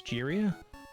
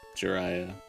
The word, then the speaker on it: Jiraiya: Jiria? Jiraiya.